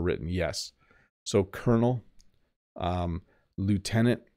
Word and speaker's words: Lieutenant: yes so Colonel um Lieutenant sometimes in Canada we say leftenant which I don't know where that comes from very British no